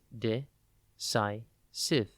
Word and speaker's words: decisive: It is pronounced de-si-cive, and it is spelt D-E-C-I-S-I-V-E. Think deck, and then the letter I, and then Cive, S-I-V-E.